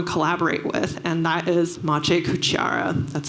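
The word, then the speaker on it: Maciej Kuciara: would want to collaborate with and that is mache cuchiara that's how you pronounce his name and he's a renowned digital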